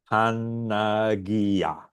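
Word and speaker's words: Παναγία: Pi, alpha, nu, alpha, gamma, India, alpha. Pronounced Panagia.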